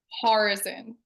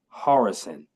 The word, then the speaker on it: Horyczun: I get started is how do you pronounce your last name horrison wow horrison yep okay uh do you